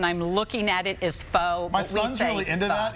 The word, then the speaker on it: pho: Pho. How do you say it? Pho. Pho. Pho. So Fee, pho. it is spelled pho.